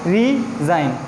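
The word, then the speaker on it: resign: Second example देखें, रिज़ाइन। रिज़ाइन में क्या है, यहाँ पे भी जी जो है वो एक साइलेंट वर्ड का काम कर रहा है या साइलेंट लेटर का काम कर रहा है, ठीक है ना।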